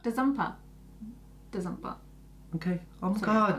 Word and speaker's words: Denzongpa: fight scenes, and it's got Sunny Deol, Danny Denzongpa, and it's from the movie Ghatak. Danny who? Danny? Oh, yeah, but how do you say his surname? Denzongpa. Denzongpa.